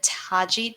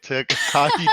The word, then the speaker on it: Tagi: So I started on the Taji tribe, or I think that's how it's pronounced. Tagi. It was orange. Tagi. Tagi. See, this is what happens when you don't watch the show. Tagi, right.